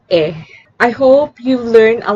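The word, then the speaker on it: へ: I'll repeat, konnichiwa is pronounced as konnichiwa, and konbanwa is pronounced as konbanna, and he is pronounced as e.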